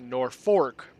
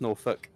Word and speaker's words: Norfolk: live there's a place called Norfolk but people pronounce it nor fork and if you don't pronounce it nor fork